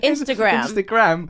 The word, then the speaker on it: Instagram: And I think it's not pronounced Instagram. That's a strange way of saying Instagram. Instagram. You're like someone on a penny farthing bicycle going past under a parasol. It sounds better that way. We should be calling it Instagram. Okay, I'm with you on that. Instagram. I'm with you on the emphasis on the last syllable of Instagram.